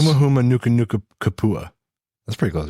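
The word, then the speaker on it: humuhumunukunukuāpuaʻa: So if you break it out into syllables, Huma huma nuka nuka kapua.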